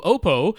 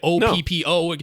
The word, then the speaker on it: Oppo: You look at OPPO, is it Oppo? Is it Oppo? Who really knows? I at that time, Twitter wasn't a horrible cesspool, and you could actually talk to people. And so I reached out to Oppo on Twitter, and they're like, yeah, we don't really care if you say it Oppo or Oppo, but we always say Oppo around here.